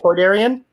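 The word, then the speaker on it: Toydarian: How do you pronounce it again? Aidarian. Toyarian. Toidarian. Yes.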